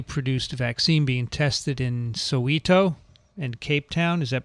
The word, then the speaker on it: Soweto: Locally produced vaccine being tested in Soweto. And Cape Town, is that pronounced right, Dick? Soweto?